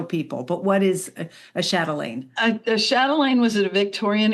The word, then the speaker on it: chatelaine: You mentioned chatelaine. Chatelaine. Am I pronouncing that?